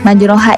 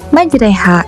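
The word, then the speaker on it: مَجْرٖىهَا: Nah, majroha ini tidak dibaca majroha melainkan dibaca majreha. Kenapa majreha? Karena hukumnya adalah atau bacaan ini adalah imalah yang ketika dibaca menjadi bismillahirrahmanirrahim. Waqkabu fiha bismillahi majriha waha inabbiururahim. Nah, jadi yang bertuliskan majraha itu dibaca majreha.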